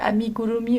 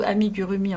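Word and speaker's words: amigurumi: nom d'ailleurs encore maintenant tout le monde la prononce donc ami gurumi ou amig gurumi en français voilà bon qu'est-ce que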